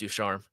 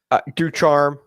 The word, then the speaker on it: DuCharme: What are the common mispronunciations? DuCharme, DuCharme. Those are probably the most common. Which the E on the end is the one that should have told us that one.